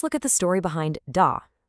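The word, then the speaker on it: 大: main characters for the day. First up, we have da. The pronunciation is da. Now, really pay attention to the tone here. It's the fourth tone, which is a sharp falling sound.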